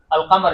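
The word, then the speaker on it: القمر: আচ্ছা শামসি আমি আর শামসি লিখলাম আর আল কামার লিখছি, আল কামার। আচ্ছা বলুন আল কামারু, কামারের জায়গাতে আলিফ লাম উচ্চারণ হচ্ছে, তো এই লামটা এই কাফটা হচ্ছে কি কামারি।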